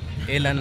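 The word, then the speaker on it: Elanh: encontrar en Facebook en elan Hay que decir esto elan nadie sabe cómo se escribe es e l a n h con h final acuérdense bu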